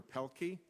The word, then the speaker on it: Pielke: the hearing will return to order we now have dr. Roger Pelkey I've pronounced it correctly I see by your name not by your head nodding yeah you got it that's and then after that dr.